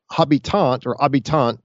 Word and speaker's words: habitants: The habitants, it's spelled like, it looks in English like habitants, but they're inhabitants, basically.